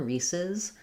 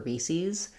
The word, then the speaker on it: Reese's: But if you think about the word pieces, it has the same pattern of the S sound and then the additional S added with a syllable, and that one sounds like pieces. So really, we should say Reese's the same as we do pieces, but some people do say Reese's.